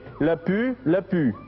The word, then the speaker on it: Lapu-Lapu: L'une des cimes que je fixe vous livrera le casque du vaincu, signé Lapu, Lapu, ou Lapu, Lapu, je ne sais pas comment ça se prononce, L-A-P-U, L-A-P-U.